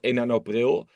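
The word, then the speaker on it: enalapril: We have one example in the Netherlands called enanopril, which is in Dutch pronounced almost the same as 1st of April.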